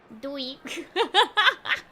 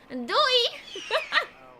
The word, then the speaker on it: Doei: Doei. Doei.